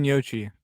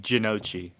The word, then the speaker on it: gnocchi: It's pronounced differently, different places. 'Cause Gnocchi. Japan does it differently. Definitely not Ginocchi.